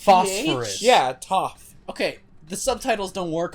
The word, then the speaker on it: Toph: Tov? Toph. Like Toph. an F, like Toph. Tov. Like a Toph. PH. Like PH, Toph. It's Phosphorus. PH? Yeah, Toph.